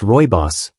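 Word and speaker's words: rooibos: Roy Boss tea, pronounced Roy Boss, may not be as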